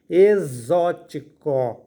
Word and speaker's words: exótico: o som de z aí nós temos e x o com acento agudo indicando que essa sílaba e a mais forte vai ficar zo t i t c o co exótico ou então exótico na palavra exótico a